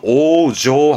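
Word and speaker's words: 往生: 발음은 오조 하거든요.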